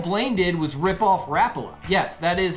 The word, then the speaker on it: Rapala: in 1936 all Blaine did was rip off Rapala yes that is how it's pronounced next myth tenkara is a simple easy